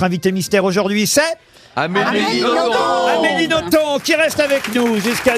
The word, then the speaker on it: Nothomb: consacré tout un dossier qu'on doit prononcer le b de votre nom absolument je fais tout ce que je peux pour que ce bel se prononcer et ça finit par marcher et oui amélie